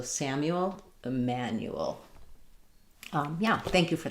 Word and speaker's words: Emanuel: So Samuel and Emanuel is just going to be I man and then the same U. So Samuel, Emanuel.